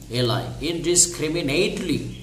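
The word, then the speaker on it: indiscriminately: দেখো ওয়ার্ডটা অবশ্যই মুখস্থ রাখবা, এই যে প্রথমে আমরা ইন উচ্চারণ করব, তারপরে DIS ইনডিস, তারপরে CRIMI creamy, ইনডিসক্রিমি neat NATELI, ইনডিসক্রিমিনেটলি, ইনডিসক্রিমিনেটলি নির্বিচারে তারা গাছ কাটে ফেলতেছে, কারা, ওই যে অসৎ বিজনেসম্যানরা।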